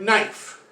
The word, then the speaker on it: knife: okay everyone should know this is the word knife we never pronounce the k now i know a